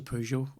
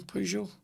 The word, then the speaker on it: Peugeot: I say Pew, not Poo, like. I think I might say Peugeot.